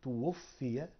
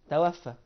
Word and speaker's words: توفي: فلان واستشهد فلان جميل الافعال دي نطقها صحيح لا كده بالطريقه التي قلتها انت فهي غير صحيحه طيب ما الصحيح هي تنطق توفيت واحتظهر طب ممكن تكتب بس كلمه فلان مثلا جنب بعدها او جنبها جميل بدون ذكر اسماء حلو الكلام يبقى انا غلط اقول توفى نقول توفي طب لما قلت توفي